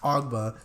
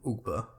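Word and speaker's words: Ogbah: They brought in Shaq Lawson, Emmanuel Ogba, and Kyle Van Noy. There was a time where I called him Ugba.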